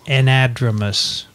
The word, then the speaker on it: anadromous: an entrepreneur so so cells no n it's anadromous anadromous an edge you need a pronunciation uh okay fine help there okay anadromous